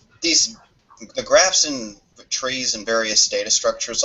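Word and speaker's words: trie: bit wise tree I I'm pretty sure this is pronounced tree yeah it's probably still pronounced tree and that's probably just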